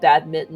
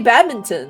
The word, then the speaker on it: badminton: like badminton the fact you guys call it bad mitton is just so stupid that n has no business being there and you can ask the Brits they'll back us up no the Brits say badminton no only the Posh